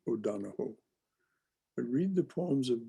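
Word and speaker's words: O'Donohue: o donna hugh he's an irishman so it's pronounced o'donoho i read the poems of john o'donnell donahoe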